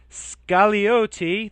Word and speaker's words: Scagliotti: Allison Scagliotti. The G is silent.